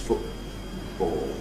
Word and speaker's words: football: So in words like football, that glottal stop for T is well established, football.